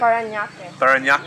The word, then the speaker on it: Parañaque: Parañaque. Yeah. Okay. It had a little trouble pronouncing that, but it was good, though.